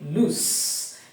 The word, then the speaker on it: loose: to tell you that when you come to the s e at the end we say loose meaning the end part part of the word with l o o s e the end part which is s e sounds as a voiceless sound s but when it